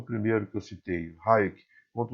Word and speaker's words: Hayek: Muitos pronunciam Hayek, mas não é correto. A pronúncia correta do nome dele é Hayek.